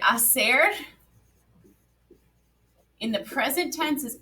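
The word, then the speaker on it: hacer: they make awesome and remember that h is silent i don't actually hear it in our pronunciation right thomas yeah bueno okay then final chart we made it but now one more chart acer in the preterit tense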